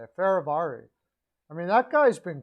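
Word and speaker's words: Fehérváry: Ferravari, that's how you say it. Ferravari.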